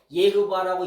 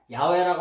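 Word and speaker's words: יהוה: 예흐바라고 읽자. 에? 야훼라고 하는 발음은 근거 없는 발음이에요.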